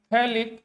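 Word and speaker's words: phthalic: यह दोनों बराबर में इसको कहते हैं फैलिक एसिड पी साइलेंट रहता है लिक एसिड प अगर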